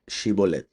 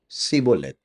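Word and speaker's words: שיבולת: would ask them, okay, please say the word Shibolet. And they would be like, of course, Sibolet, right? So they were like, you're from Ephraim, because like the people from Ephraim couldn't pronounce the letter Shin.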